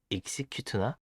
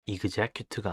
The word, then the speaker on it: execute: execute나 execute가 아닌 execute입니다. 참고로 execute의 명사형은 execution이라고 합니다.